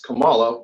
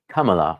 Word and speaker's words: Kamala: We do have a little note from Jim here to pronounce Kamala and not Kamala.